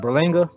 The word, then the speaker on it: Berlanga: I think that's how you say his name, Berlanga. That's right.